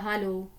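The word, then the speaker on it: Hallo: Larsen, हालो होता है, हालो, तो हेलो नहीं हालो, बोलना, ओके।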